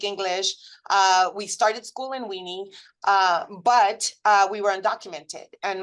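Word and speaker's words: Winnie: And I swear to you, I had to Google it because I thought my parents were mispronouncing the name of the city. It does exist. It's Weenie, Texas.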